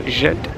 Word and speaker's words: Ghent: I struggle a few times and say Ghent, but it is Ghent with a hard G.